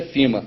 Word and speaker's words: FEMA: é F né pronúncia a gente fala Fema porque brasileiro eu prefiro falar mais as coisas brasileiras Harvard eu fiz a Harvard Fema mas a pronúncia é fima e o que que